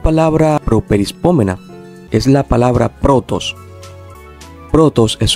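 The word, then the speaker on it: πρῶτος: Bien, entonces, por ejemplo, una palabra properispómena es la palabra protos. Protos es una palabra properispómena, ya que en su forma léxica tiene acento circunflejo en la penúltima sílaba.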